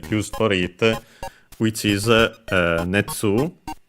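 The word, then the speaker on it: 熱: for it, which is netsu. Yes, accented on the second one.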